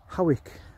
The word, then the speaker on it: Hawick: It runs from Ponteland, which is north of Newcastle, all the way to Hawick, which is spelt Hoyk.